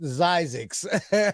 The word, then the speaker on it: Zyzzyx: It was pronounced Zyzix. How's it pronounced? ZY what? ZYEZEZIX is the pronunciation, but it is actually, let me see here.